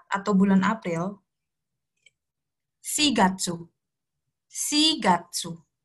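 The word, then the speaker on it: 四月: 4 atau bulan April sigatsu sigatsu sigatsu bukan Yong Gatsu karena Yong itu kan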